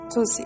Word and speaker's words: Tocci: Tocci. It is so sad that we cannot hear you, Tocci. I'm sorry. Tocci, okay, perfect.